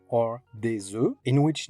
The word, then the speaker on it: œufs: X is pronounced, or des œufs, in which neither the O nor U nor F nor S is pronounced.